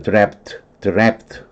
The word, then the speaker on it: draft: draft. 애 발음인데 한 모금을 뜻하기도 하고 외풍이 되게 집에 있으면 외풍 불죠.